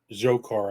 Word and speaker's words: Dzhokhar: the Supreme Court affirmed the death sentence of Dzhokhar, I think is how you pronounce his name, Tsarnaev, the younger brother of Tamerlan.